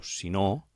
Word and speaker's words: si no: Aquest si no acostuma a ser el que provoca més errors, perquè realment es pronuncia amb la O molt clarament accentuada, es diu si no, però en realitat el si és un condicional.